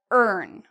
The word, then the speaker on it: earn: we pronounce this as earn. So like this, earn. And if you can't really remember, just think of the word learn, because we have the word earn in it, okay?